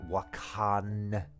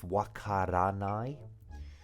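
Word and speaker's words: わからない: You might notice that, of course, people will say like wakanai instead of wakaranai. So it technically should be wakaranai, but lots of people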